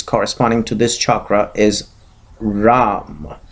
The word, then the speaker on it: Ram: to this chakra is Ram. So it is the alphabet RAM, Just write down REM and pronounce it accordingly, and you'll get the right pronunciation.